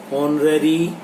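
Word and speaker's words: honorary: Dash ऑनररी position is वन in which one does not get paid for one service, तो यहाँ एन आएगा, H silent है यहाँ पर इसलिए।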